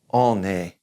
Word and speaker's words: on est: And one is, in general, on est. Remember, we're going to kind of carry that N over because it's followed by that E, that vowel.